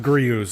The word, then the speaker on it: Griot's: It's pronounced Griot's according to somebody on YouTube. Griot's Garage. Grooves? Something like that. Apparently you don't say the T.